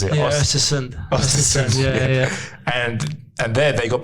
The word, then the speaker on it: Östersund: And then you went into a couple of teams, and then you went into this one team, and I can't pronounce it. Yeah, Östersund.